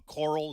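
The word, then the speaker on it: choral: and uh that that is that a a coral is that the right way to say it yes it's a coral piece Coral I mean a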